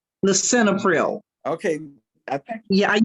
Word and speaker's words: lisinopril: Then Okay, we have, Doris, that last one is uh, pronounced lisinopril.